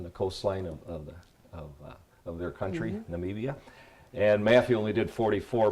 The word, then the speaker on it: Namibia: They were in Namibia. I said it wrong in the last show. I said Nambia, but it's Namibia, and that's way down in the southwest tip of Africa.